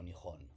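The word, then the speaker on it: 日本: día, del sol, Ben, que Riben es el país del origen del sol en chino, que en japonés pronunciamos como Nihon.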